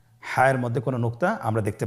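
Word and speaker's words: حاء: হা হরফটি উচ্চারিত হবে কণ্ঠনালীর মধ্যখান হতে। গলা চিপে ধরে আপনি উচ্চারণ করুন। আপনারা আমার সাথে বলুন হ্যাঁ।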